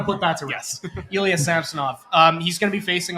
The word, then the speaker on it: Samsonov: a note right now it's pronounced samsonov based on what he said in the in the video the leaves posted so I've been calling him sonov all summer so yeah gotta put